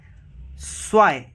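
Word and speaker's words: zwei: सो आइन उन ज़्वांज़िश, स्वाई, because Z है और प्रोनाउंसिएशन जेड, सॉरी जेड नहीं, जी है. जी की प्रोनाउंसिएशन स होती है, तो स्वाई.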